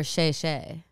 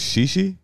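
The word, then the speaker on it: 谢谢: Or xie xie. You thought it was xi xi?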